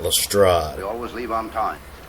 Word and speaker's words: Lestrade: sir arthur conan doyle claimed that it's pronounced um inspector strayed not lestrade we always leave on